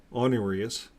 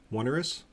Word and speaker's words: onerous: to uh burden our brothers and sisters with honurious onerous how do you say that onerous requirements big